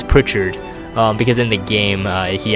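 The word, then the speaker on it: Pritchard: Montgomery here I used to say a Frank Pro card but he corrected me he's like it's it's Prichard because in the game he actually said he's actually pronounced Prichard Frank Richard can imbue lightning now I haven't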